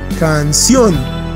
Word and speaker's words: canción: la última sílaba canción si lo pronunciamos otra vez notaremos que el acento está en la última si la tradición si estuviera en la primera sonaría algo como cáncer lo cual no existe canción última sílaba entonces es